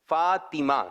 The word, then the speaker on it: فاطمہ: اچھا یہی چل رہا ہے، یہ نام مبارک جب بھی لیا جاتا ہے زیادہ تر لوگ اس طرح لیتے ہیں فاطمہ، فاطمہ. یاد رکھیں صحیح تلفظ ہے، طا کے نیچے زیر ہے. فاطمہ کیا کہیں گے؟